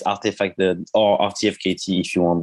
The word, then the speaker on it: RTFKT: so rtf and also the name is pronounced artifact even if we wrote it rtfkt it's because when we we started the company uh we wanted to call it artifact but we couldn't find